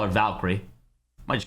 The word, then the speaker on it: Valkyrie: Cree at the end of it. There will be no extra syllable in there for me.